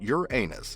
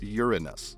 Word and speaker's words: Uranus: lyrics, but he went on to correct Kanye's pronunciation of Uranus by letting him know that Uranus is only acceptable to say if you're 8 years old. After that, it's supposed to be pronounced Uranus.